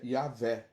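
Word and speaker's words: Yahweh: só já vem a nossa pronúncia porque a pronúncia do barco aí a letra j é ir né então yaveh né então jesus foi o nome dado ao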